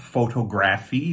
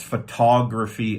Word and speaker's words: photography: these are studies uh be careful about photography it's not photography people make a lot of mistakes there because of the word photograph but it's photography and photographer so the syllable changes so it's not photographer that's wrong or photography that's wrong so it's photography uh